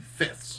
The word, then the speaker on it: fifths: I was just saying, there's probably a lot of people who can't pronounce that because you've got the F, then the TH, and then the S. All together, no vowels, just a mash of consonants.